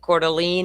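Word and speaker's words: Coeur d'Alene: in July it's beautiful is it Calene or cordelan Calene is how the locals pronounce it always say calan so it's Calene okay all right um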